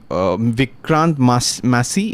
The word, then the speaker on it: Vikrant Massey: Vikrant Massey, is that how you pronounce it?